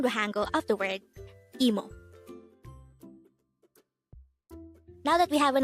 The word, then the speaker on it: 이모: angle word number 145 emo e mo this is pronounced as a two syllable word first syllable is e the second syllable is Mo pronounce it with me